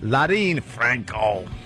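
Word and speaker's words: Leryn Franco: Larine Franco.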